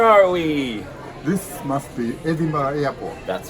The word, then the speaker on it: Edinburgh: Is there only one pronunciation? Edinburgh. Not Edinburgh. Mystery solved.